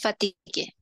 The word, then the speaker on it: fatiguée: Ah, se pronuncia la E aquí. Oui, parce que c'est, Fatigue. oui, il est accentué, está acentuada. Ah, ya, ya. Je me sens fatiguée.